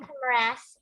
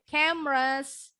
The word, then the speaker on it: camera: Bacanya bukan camera, tapi camera. Jadi there are 3 syllables in this word. Camera. Ada 3 suku kata ya. Tapi pengucapannya yang betul jadinya hanya 2. Because that's how the native English speaker say it. Camera. Camera. Bacanya cuma 2.